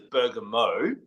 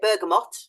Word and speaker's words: bergamot: that as well now I started off by introducing it as Burger Mo now how do you say yeah I don't say it like that I say burgot yeah right go back with and forth you hear lots of discussions back with them for I actually think bergot might be correct but either either we